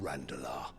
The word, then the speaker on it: Randalar: Republican soldiers starve while waiting for orders from Randalar. Randala, that's how you pronounce it.